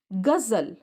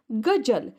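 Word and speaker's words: ग़ज़ल: उदाहरण के तौर पर देखिए, गुजारिश, गजल। हमारी वर्णमाला में ज है, ज का उच्चारण हम कर सकते हैं, जैसे गुजारिश, गजल, लेकिन यहाँ पर ये सही उच्चारण नहीं हो पा रहा है।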